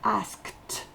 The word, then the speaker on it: asked: Le E ne se prononce pas à la fin et le D va se prononcer T. We have already asked.